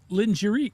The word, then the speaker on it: lingerie: But what happens is we bring over a French word and we try to English it and it it all up.